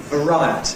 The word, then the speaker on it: variety: ‘society’ and so on; it causes the stress to fall on the last syllable of the stem, making it strong /aɪ/ instead of weak /ɪ/, and therefore /eə/ weakens to /ə/, and we get ‘variety’ /vəˈraɪəti/.